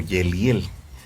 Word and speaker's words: Yeliel: Y hay un nombre que dentro de los los 72 nombres del creador se pronuncia como Yeliel. Yud Lamet Yud es este un hombre